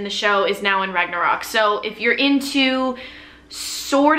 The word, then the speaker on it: Ragnarok: it's called ragnarok right i'm trying to say it like norwegian ragnarok it's on netflix it